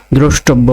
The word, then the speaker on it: দ্রষ্টব্য: দ্রষ্টব্য বানানে একটু কঠিন অপেক্ষাকৃত অন্যান্য বোর্ডের থেকে। দয়রফলা অকার, তালিবাস শয় হসন্ত, টৌকার, বয় হসন্ত, বৌকার।